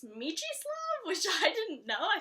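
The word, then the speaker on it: Mieczysław: Side note, I always thought the name was Mika Shlav, but it's Michislav, which I didn't know.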